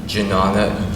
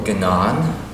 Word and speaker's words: Jnana: introduce a practice in Jnana yoga. Now, Jnana yoga is a form of yoga, and Jnan or Gnan, depending how you want to pronounce the word, means knowledge.